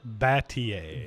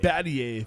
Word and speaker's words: Battier: for me I don't want to destroy it Battier Battier thank you when Shane was traded to the